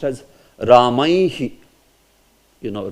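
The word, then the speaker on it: रामैः: So that's why when with Visarga it comes, it will also be pronounced as Ramaihi. You know, Ramaihi.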